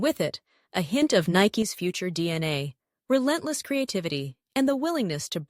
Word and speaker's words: Nike: Nike, pronounced Nike, after the Greek goddess of victory.